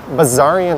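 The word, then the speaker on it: Bessarion: have burbank drive and buzzarian road is on the left i learned that you pronounce the s like a z the zaryan that's the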